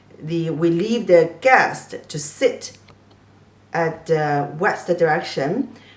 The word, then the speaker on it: 西: So the pronunciation of this west direction is also si, e, si, first tone, means west. Si, I have just said, Chinese people prefer the east direction.